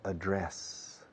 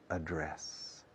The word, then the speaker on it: address: Ahora bien, cuando dices simplemente dirección o señas, Existen los dos, address and address. Yo casi recomiendo address para ser consecuente con el resto de las pronunciaciones.